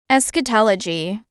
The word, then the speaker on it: eschatology: a harsh discordant mixture of sounds the correct pronunciation of this word is a skatology eschatology eschatology the the part of theology concerned with